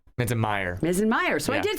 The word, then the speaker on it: Minzenmayer: Oh, I was working on that pronunciation, and I think I messed it up. You're fine. You got it. Minzenmayer. Minzenmayer.